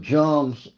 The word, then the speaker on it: Jung: But if you took Jung's, or Jung, how you say it?